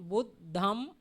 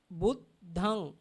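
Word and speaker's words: Buddhaṃ: Actually, the someone Buddham also pronounce. Buddham. The Nigahita become M. Buddham. Dhammam. Sangham. But our this is they have the meaning. We call the end of the nasal sound, we call Buddhang. Pronounce Buddhang. Buddhang. Dhammang. Dhammang. Sanghang. Sanghang. If someone cannot pronounce the nasal sound, he can follow the makar.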